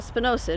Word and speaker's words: spinosad: And, well, spinosad is how you say it.